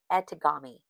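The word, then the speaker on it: etegami: It is spelled E-T-E-G-A-M-I, edamame.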